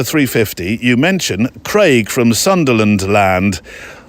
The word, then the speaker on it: Sunderland: you mention Craig from Sunderland land although if you were local it would have been pronounced Sunland and then add land with Craig struggling to